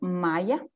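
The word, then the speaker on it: MAIA: for an organization called maya and it's actually it's actually it sounds like a maya like a maya people but also it's spelled m a i a a and uh we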